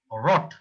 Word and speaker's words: rot: Then you can pronounce it like a German. But now you can use at a R, but soft R. Rot. It's not a rot. It's rot.